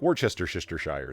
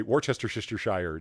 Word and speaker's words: Worcestershire: Like that's just, like Worcestershire sauce, Worcestershire.